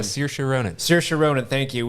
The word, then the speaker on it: Saoirse: You got the girl I can never pronounce her name. Saoirse Ronan.